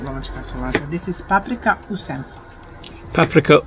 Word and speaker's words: paprika u senfu: Paprika u senfu. Did I pronounce that right? Yes. Shall I say it again? Paprika u senfu.